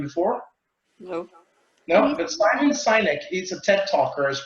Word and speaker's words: Sinek: Okay, Sinek. Simon Sinek. Thank you. I butchered that.